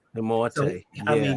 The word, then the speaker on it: Umoette: And then he also made us know how to pronounce his name. Yes. We just couldn't call him Umoette. He let us know his name was Godwin Thompson Umoette. Umoette.